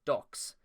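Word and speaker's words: Dux: Five devotees of Christian situ uh Dukes is chosen pronounced docks like Chris's favorite pastime.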